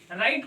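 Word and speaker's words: write: तो W silent रहता है। राइट को पढ़ा जाता है। तो डब्ल्यू आर आई टी ई राइट।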